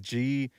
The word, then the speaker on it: Jaguars: Yeah, think of it like Jagwars.